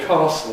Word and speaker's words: castle: In the south of England, bath and maths don't rhyme. Castle tassel don't rhyme. Pass gas don't rhyme. In the north of England, they do rhyme.